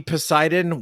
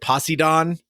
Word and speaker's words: Poseidon: asked to go see Poseidon when it came out in uh theaters but the woman who asked me to go pronounced it posidon I didn't recognize that